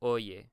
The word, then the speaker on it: oye: And then the Y right here, the Y, is going to be oye. So it's pronounced like a Y, just like in English, a U or yield, what have you.